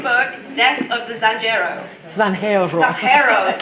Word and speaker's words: Zanjero: Zanjero, sorry. Just came back from Spain. Oh, don't feel bad. No, seriously, when one of the city history librarians pronounces it Sanjero, you know, it's kind of a thing.